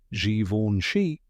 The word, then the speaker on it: Givenchy: and often mispronounced that's right we're talking about Zoni so how do you say it the correct pronunciation is xoni let's break it down step by step the